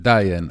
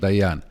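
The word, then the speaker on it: Dayan: However, with the Ashkanazi pronunciation, Diane and not Dian. When we made Aliyah to Israel, we converted it to the pronunciation prevalent here, which is Dian.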